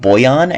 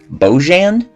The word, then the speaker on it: Bojan: while making this video his name is pronounced boyan and not bojan because i'm an idiot